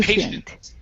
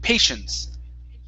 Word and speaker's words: patience: meditation patient okay okay patient with an s sound at the end patience patience there you go